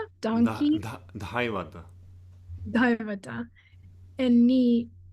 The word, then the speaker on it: Dhaivata: Da, Devata, donkey. Dhaivata. Daivata. And Nisada, elephant. It also can be pronounced Nikada, but again, Ka is not pronounced like the second consonant of the Ka group.